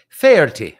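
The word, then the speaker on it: Faherty: Ferty like the golf announcer.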